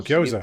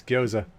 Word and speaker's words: gyoza: I said it wrong, and you said Oh, you gyoza. pronounced gyoza. That's the one. Yeah, it's not gyoza. It's gyoza.